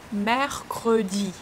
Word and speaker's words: Mercredi: Mercredi. Mer, it's ouvert, open S sound. You open your mouth widely. Mercre, the sound E. Your lips, you move them like you want to kiss someone.